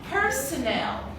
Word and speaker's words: personnel: Personal means private, but this one, personnel.